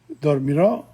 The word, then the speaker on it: dormirò: And notice the accent on the O and the I, dormirò, irà, iremo, irete, iremo.